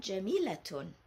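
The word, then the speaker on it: جميلة: letter at the end, but we pronounce this as muhandisatun. We pronounce this as ta, and jamilatun, tun.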